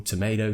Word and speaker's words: tomato: see a schedule schedule tomatoe tomorrow actually no do say tomato because that's how British people say we won't get into